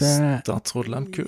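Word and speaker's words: Statsraad Lehmkuhl: Statsråd Lemkull.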